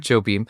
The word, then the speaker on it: Jobim: Jobim. Jobim.